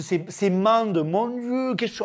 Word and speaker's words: Mende: Mais gros, mais comment tu le prononces? C'est Mende, mon Dieu, qu'est-ce que tu racontes, Mende?